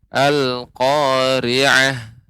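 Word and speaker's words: القارعة: Kemudian al-qari'ah, ainnya itu lebih dilembutkan lagi, al-qari'ah.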